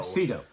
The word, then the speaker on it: Sydow: Sydow. It's pronounced Sydow. Some people say Sydow, but it is correctly pronounced Max von Sydow.